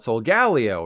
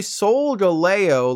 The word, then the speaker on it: Solgaleo: You probably think the big metal cat is called Solgaleo, right? Nope. It's actually Solgaleo, like Galileo.